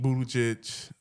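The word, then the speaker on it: Buttigieg: And I'm thinking about I don't know like on a them side like Pete Budic. That's how you say his name. Pete Buddha Judge.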